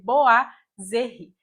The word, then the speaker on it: boiserie: da língua francesa e por isso a pronúncia correta vai ser boa zerri na língua francesa quando a gente junta o o com o i tem o som de a por isso que o